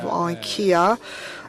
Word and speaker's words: IKEA: sector, and now it is the case of IKEA, and it is the fact that liquid biogas